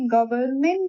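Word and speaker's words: government: हम लोगों ने यह भी सीखा था कि गवर्नमेंट में गवर्न में एन का प्रोनाउंसिएशन नहीं करते हैं।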